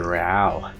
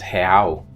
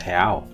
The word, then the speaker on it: real: And I just thought, yeah, it's a real. But then she said, no, it's pronounced real.